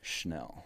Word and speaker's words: Chenal: On another linebacker we want to bring up, Leo Chenal. Leo Chenal took a massive, massive rise up PFF's draft board. It's pronounced Schnell.